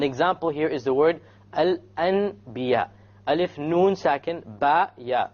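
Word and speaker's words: الأنبياء: So we don't pronounce it Al-An, we change the Noon into a Meme, and then we do a Ghunnah, okay?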